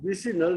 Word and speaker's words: vicinal: Now, in another case, vicinal dihalides.